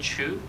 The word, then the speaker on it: Chu: Hello, my name is Chu. Last name is spelled C-H-U.